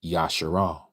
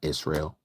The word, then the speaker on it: Yasharal: We all must become Yasharal, Israel. For those of you who don't understand what what I am pronouncing, the true pronunciation is Yasharal, not Israel.